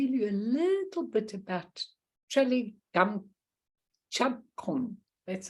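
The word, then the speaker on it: Traleg Kyabgon: Okay, so I'm going to tell you a little bit about Trele Gamchakon. That's how you pronounce it.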